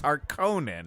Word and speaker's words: Harkonnen: We've all agreed it's Harkonnen.